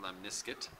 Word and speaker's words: lemniscate: a t lemniscate but we pronounce it lemniscate like a biscuit and that's what the